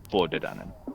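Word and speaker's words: Tuatha Dé Danann: It sounds like Tuatha De Danann, but it's not. It's Tordidanen.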